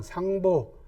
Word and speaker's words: 상보: 무응왕, 촉상, 상보. 상보는 이제 유선이 제갈량을 부르던 존칭입니다. 재상 아버지, 그죠? 이럴 땐 보라고 읽습니다.